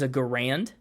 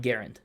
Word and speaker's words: Garand: World War II rifle commonly you'll hear people mispronounce the gun as a grand but his name is John Garand I see yeah so